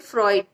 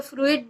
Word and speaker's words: Freud: तक, वो है सिगमंड फ्रॉइड। FREUD, उसको अक्सर वो प्रोनाउंसिएशन में अगर हम देखें तो फ्रूइड बोलते हैं, लेकिन फ्रॉइड करेक्ट प्रोनाउंसिएशन है।